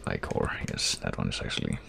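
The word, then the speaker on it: ichor: That's pronounced Icor.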